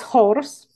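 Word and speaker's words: Chors: the god named horse you don't pronounce this C it's horse and this really means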